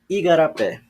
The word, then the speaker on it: igarapé: E a sílaba tônica é a última aqui agora. Porque tem acento, é fácil de identificar. Quando a sílaba tônica é a última, nós chamamos de oxítona.